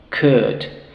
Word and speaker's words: could: Por ejemplo, las que tienen la OU más la L, en donde la L no se pronuncia en estos verbos. Por ejemplo, could, otra vez el mismo sonido de las palabras anteriores. Could. So we don't say could, but we say could.